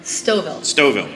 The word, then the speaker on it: Stouffville: Stouffville. Okay. But it is misleading. It does have two Fs. Two Fs and you don't pronounce either of them.